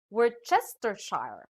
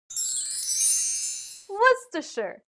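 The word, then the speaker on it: Worcestershire: what do you say some may read this as word chestershire or we're sister shar but how do we really pronounce this word the dictionary says it should be what's the shirt i understand how you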